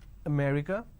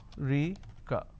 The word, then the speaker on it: America: Delhi and all that, now the correct pronunciation is, if I have to break it down to syllables, America. So there are 4 syllables, America. Now in northern part of the country, they pronounce this as Rika. So they drop a syllable.